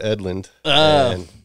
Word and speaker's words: Edlund: Yep, Deadlung rhymes with Edlund.